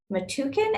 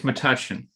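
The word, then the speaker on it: Metuchen: new jersey town of matukin am i pronouncing that correctly chris it's matushin matushin well i just completely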